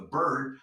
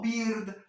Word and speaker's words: bird: The bird, no beard, recuerdes ahí, menos aguda.